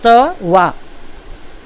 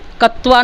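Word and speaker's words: क्त्वा: आधा क आधा त वा। उच्चारण करते हैं त्वा, और लेकिन लिखते हैं आधा क आधा त वा, क्योंकि क का उच्चारण नहीं करते, उसे मन में ही बोलते हैं त्वा। कत्वा नहीं बोलेंगे क्योंकि क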